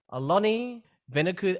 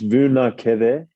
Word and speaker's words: Vunakece: name correctly so hello alani veneku oh you're not the first and you won't be the last to accidentally make a mistake of my surname it's vu na keve i have heard you